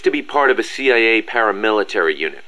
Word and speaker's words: CIA: Around here they say La CIA instead of CIA, huh? Nothing strange about it. That's how it's pronounced when you read it in Spanish.